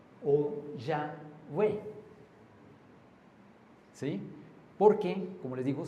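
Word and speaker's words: Yahweh: Entonces, los grandes estudiosos han sugerido que la pronunciación podría haber sido y o wa o ya wa Yahwe, sí, porque como les digo, se perdió el el sonido consonántico original.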